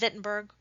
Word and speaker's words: Wittenberg: germany it is pronounced wittenberg like a v even though it's spelled with a w this way they do it in germany ultimately uh martin luther